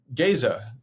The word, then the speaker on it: Gaza: Um, as you as you know in in Iowa, all the town names that look like another place in the world we pronounce differently.